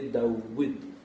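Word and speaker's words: داود: Et le personnage le plus connu qui porte ce nom, c'est David, Daoud, parce que là ça s'écrit Doud, David ça s'écrit Doud, mais après vous vocalisez Daoud.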